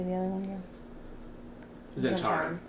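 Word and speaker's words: Zhentarim: Zentarum. Zentarum.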